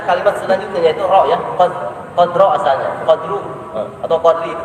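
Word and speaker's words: قدر: ya, atau am, ya, hati-hati bacanya jangan inna anzalnahu fi lailatul qadr. Jangan. Tapi kita harus berusaha membawa rohnya. Qadr, qadr, qadr. Minimal ada getaran.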